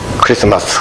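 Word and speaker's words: Xmas: 글자 부터 시작하는 거에요 그래서 fls 라고 읽으면 안 되고 크리스마스 이렇게 읽어야 합니다 loop 예 4 아무생각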